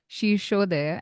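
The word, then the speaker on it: शीर्षोदय: One is Shirshodaya and the other is Prishtodaya. Am I pronouncing it that correctly? Absolutely correct.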